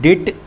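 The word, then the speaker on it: debt: इसको डेब्ट मत पढ़ना, इसको डेट पढ़ा जाता है, बी साइलेंट होता है, डेट, डेट मार्केट। अब बहुत से लोग इसको डेब्ट पढ़ेंगे, नहीं डेब्ट नहीं होता है।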